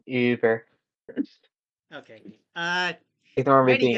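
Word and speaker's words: Über: It's actually pronounced Uber.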